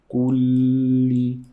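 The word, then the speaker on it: كل: تبارك الذي بيده الملك وهو على kulli. Make sure you're saying two lambs.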